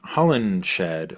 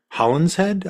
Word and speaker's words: Holinshed: The funny thing about it, though, is in Holinshed, or Holland's Head, I've heard it pronounced both ways, is that Banquo helps Macbeth kill Duncan.